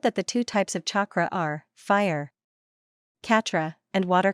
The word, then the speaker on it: chakra: It's pronounced chakra. Why do you call it Catra?